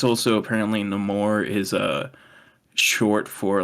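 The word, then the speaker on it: Namor: name the no more I keep calling him nameor but it should be no more it's no more in this Canon which I think will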